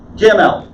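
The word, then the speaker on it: גימל: Gimel. What English word does gimel sound like? Camel. Camel. Look at the camel's neck. Okay? Gimel.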